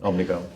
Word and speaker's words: Omnicom: Right, did I pronounce that correctly? You did. Omnicom.